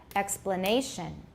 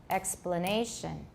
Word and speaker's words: explanation: Note that the difference in rhythm between explanation and exploitation is that the second syllable of explanation has a reduced vowel, but this syllable in exploitation has a full vowel.